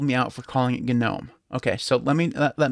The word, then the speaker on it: GNOME: that's why it's called gnome just like gnu is pronounced gnu okay so that's why we pronounce it now if you do pronounce it with a silent g that's fine uh there's nothing wrong